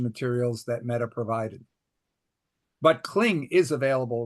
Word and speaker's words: Kling: I think it is actually pronounced Kling.